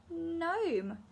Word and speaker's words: gnome: And this one's a bit of a funny one because we don't say g-n, we just say n. So this g-g-g is silent and we say n.